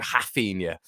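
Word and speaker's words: Raphinha: with regards to rafinha they actually called him haffinia which i like quite a bit hafin yeah um might start pronunciation like that to be honest with you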